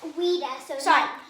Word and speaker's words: vita: Vita. So all the V's are pronounced as W's in Latin.